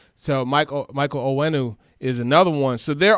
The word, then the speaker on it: Onwenu: Olawenu. How you say it? Onwenu. So Michael Onwenu is another one.